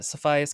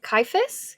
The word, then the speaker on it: Caiaphas: Why over Cephius Cain? Caiaphas? Yeah, they pronounce it Caiaphas. For 10 years in my head, I've been pronouncing it Cephius, so I'm just not gonna...